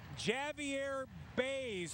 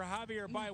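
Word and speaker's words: Javier Báez: So she would say Javier Bays for Javier Baez.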